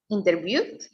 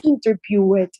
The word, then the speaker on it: interviewed: Yeah, remember the W it's a voiceless sound, so you don't have to pronounce. Only pronounce with the TD. Okay? So interviewed, just at the end. Not interview it, okay? Because no, it doesn't sound, only the TD.